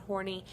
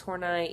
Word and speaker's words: Horney: It's not Horney, it's Horney, even though it's kind of interesting because she was rather, we would probably say, a slut.